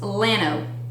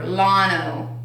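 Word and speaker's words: Llano: I didn't know what to do with my hands, so this is one that we go to every summer, and it's pronounced Lano or Lano.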